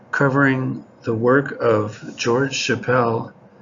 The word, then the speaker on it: Chappell: work of george chappelle or you might pronounce his last name chapel i know the founder of tom's of maine toothpaste spells his name the same way and he pronounces a chapel but during all the video clips you'll see i have been pronouncing his name chappelle it just looked that way to me so there's different